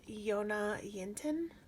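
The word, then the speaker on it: Jonna Jinton: Her name is Yona Yinton. It's spelled like Jonna, Yinton.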